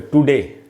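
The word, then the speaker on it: today: तो दोस्तों अगर आप इस वर्ड का प्रोनाउंसिएशन देखें, उच्चारण, तो यहाँ देख रहे हैं आप ये टी के बाद श्व साउंड है। क्यों श्व साउंड क्यों है, क्योंकि TO, अब यहाँ O से आधा अ बनेगा, श्व बनेगा, क्योंकि पहला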